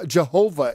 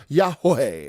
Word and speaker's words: Yahweh: And his name isn't Jehovah, it's Yahweh, okay? You got to say it right, Yahweh. And I'm an Elohim, not a god of the heathen.